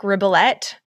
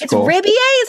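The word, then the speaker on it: Rebillet: an after party with a guy named mark ribellette you heard this yeah mark ribier yeah oh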